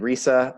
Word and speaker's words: Resa: Yeah, And Resa, like Lisa, but it's spelt Resa.